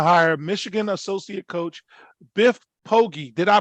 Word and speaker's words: Poggi: So Charlotte 49ers have chosen to hire Michigan associate coach Biff Poggi. Did I pronounce that correctly? Poggi.